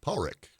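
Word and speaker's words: Padraic: the interview that that it's pronounced in Scotland Paul Rick which was a moment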